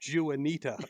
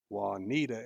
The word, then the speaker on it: Juanita: read the clue, and he pronounced it Juanita. and Olivia and Olivia did this, like, it was like probably the best timing ever. This pause, and she goes, "It's pronounced Juanita," and it brought the house down.